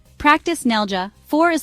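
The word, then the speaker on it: neljä: N nja means four say Nell like Nell from tunnel then add y it rhymes with day practice nelja four is like the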